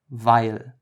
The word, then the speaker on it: weil: Together, they don't form EI, but instead they form I. So imagine there was an A, even though it's not spelled that way.